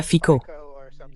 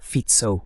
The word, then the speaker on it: Fico: Et bien oui, bien sûr, il y a fico. D'ailleurs, c'est comme ça que ça se prononce. Ce n'est pas Fitzo ou quelque chose comme ça, c'est Fico avec un faux accent de la BBC.